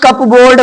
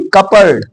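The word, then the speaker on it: cupboard: नहीं होगा रिसी रिसी इसको लोग कपबोर्ड बोलते हैं नहीं कपड कपड याद रखना जनरली लोग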